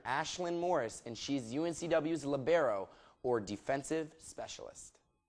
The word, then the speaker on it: libero: She's junior Ashlyn Morris, and she's UNCW's libero, or defensive specialist. You spell it L-I-B-E-R-O, and it's pronounced libero, one of the most misunderstood positions in volleyball.